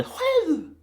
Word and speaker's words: själv: But remember, the S with any other consonant in Swedish is the devil, so this sounds like my själv.